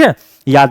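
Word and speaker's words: Hugh: है वेस्टन ह्यू ऑर्डन यहां ह्यूज नहीं पिएगा बहु बहुत सारे बच्चों को मैंने ऑफलाइन पढ़ाते वक्त देखा उसको ह्यूज पढ़ते हैं नहीं बच्चों यहां जी एच साइलेंट है क्या पढ़िए ह्यू पढ़िए यानी वेस्टन ह्यू ऑर्डन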